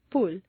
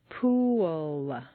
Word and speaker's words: pool: Pool looks like a nice 1-syllable word, but if you say it this way, at best it will sound like pool, and at worst it will be unintelligible to your listener. For clear comprehension, you need to say 3 syllables, pool.